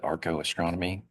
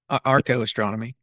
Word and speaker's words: archaeoastronomy: So, you know, um Arco What is it? Arco-astronomy? What's the fancy word for that? yeah. Yeah, that's it. Archaeoastronomy. Archaeoastronomy. I know I was missing I know I was missing a syllable there.